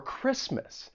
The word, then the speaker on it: Christmas: So number 1, you may not pronounce the T when it comes between two consonants. And I'm sure you hear this when I say words like exactly or mortgage or Christmas.